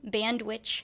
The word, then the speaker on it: Bandwitch: So they named the chick last year Ian Bandwitch Hail. So Ian Hail was a drummer for the band and then Band Witch rhymes with sandwich and they thought that was funny and so do we.